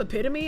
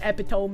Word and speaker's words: epitome: You screwed up epitome until your mom corrected you. When I was a kid, I would call it epiome as well.